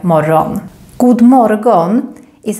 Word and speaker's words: morgon: Morgon is the Swedish word for morning, but we normally pronounce it more like morgon.